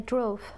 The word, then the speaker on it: drove: Hervey I drove okay we don't say I drove with a beep because it's a V I drove very good